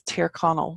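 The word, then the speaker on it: Tír Chonaill: goal so the alternative irish for it is ter Connell which is Connells land and what Donegal means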